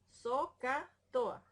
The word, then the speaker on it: SOHCAHTOA: SOHCAHTOA. Usted sabe que SOH se pronuncia hasta con una J, ¿verdad? SOH, haciendo la H, CAHTOA.